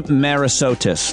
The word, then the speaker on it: Merisotis: Work in the Age of Smart Machines, Jamie Merisotis.